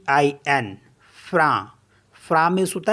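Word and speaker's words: frein: next word है एफ आर ई आई एन फ्रा फ्रा मीस होता है ब्रेक सी ई आई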